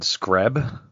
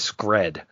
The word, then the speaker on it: Scred: I have said Screb. I think you guys have said Scrat. Yep. Yeah. His name is Scred. And I know this, and I have it written down, and I still say it wrong every time.